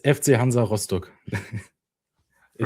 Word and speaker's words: Hansa Rostock: So it's FC Hansa Rostock in the Right. German So pronunciation. yes, so we over here we were calling it Hansa Rostock, so that's why I was like, I'll let